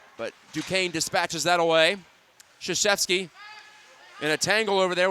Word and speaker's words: Krzyzewski: This is Krzyzewski, yes, spelled the same way and pronounced the same way as the Duke basketball head coach.